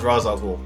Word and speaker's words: Ra's al Ghul: Ra's or Raish, depending on how you want to pronounce it. Mm-hmm. It's been pronounced, I heard, both ways, but I've always known it as Ra's al Ghul.